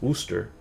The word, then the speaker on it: Worcester: There's a city in the US that's like same kind of is it same format, Worcester, which you think pronounced like Worcester or Worcester, but it's pronounced Worcester.